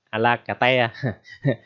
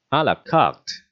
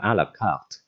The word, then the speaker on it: à la carte: Rồi cái từ đầu tiên bạn thấy rất là ghê gớm ha, thì cái từ này nó là xuất phát từ tiếng Pháp mà ra, bạn được đọc là à la cà te, đừng đọc như vậy